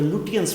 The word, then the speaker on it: Lutyens: Architecture वहाँ से बुलाया जिसका नाम था एडविन लुटियंस, बहुत जगह लुटियंस भी बोला जाता है। ठीक है बेटा, LUTYENS, स्पेलिंग लिखिए आप, एडविन EDWIN, एडविन लुटियंस।